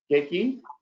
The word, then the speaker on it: CACI: How do you pronounce CACI or CACI?